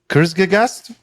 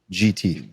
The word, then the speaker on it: Kurzgesagt: Kurzgegast?